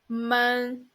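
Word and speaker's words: 闷: it means down and the pronunciation of it is mon okay let's write the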